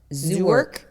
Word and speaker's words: Zerk: How do you pronounce it? Zerk. Zurk.